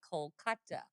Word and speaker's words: Kolkata: But if you go to India, they say Kolkata.